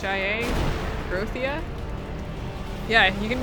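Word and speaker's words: Grothia: with epit which is actually groia I think is how you pronounce it g r o t h i a groia yeah you can name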